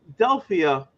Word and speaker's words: Delphia: so yeah so nobody delphia for how long did i say your name wrong okay and the only reason why i know how to say your name is because you said it's like philadelphia and you know choose